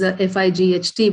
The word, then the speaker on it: phyto: we call the phytonutrients fight literally um is fightht but this is spelled with p h y but it does the